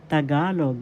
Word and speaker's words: Tagalog: tagalog language learning lesson tagalog that's how you pronounce it ta first syllable ga second syllable syllable the accent in